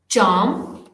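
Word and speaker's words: charm: सबसे पहला है कैरेक्टर, फिर है चार्म, यानी सी एच जो है यहाँ पर च साउंड से रिप्रेजेंट हो गया, तो पहले वाले में कैरेक्टर, इसमें ये क साउंड से रिप्रेजेंट हो गया।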